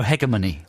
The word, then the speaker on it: hegemony: it's a transatlantic thing so pronunciation book goes for her germany her gemini hegemony hegemony nope puts the accent on the second syllable doing it like hermione